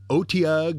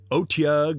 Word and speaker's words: otyugh: with it the atyag which can incidentally be pronounced as otiag or otieg or atyag the atyug is a